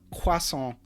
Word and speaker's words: croissant: So yeah, we just take it, you know, like you know, quason is a word in English, right? Um I mean we butcher it and you know it's spelled croissant, but like we don't have a different word for it.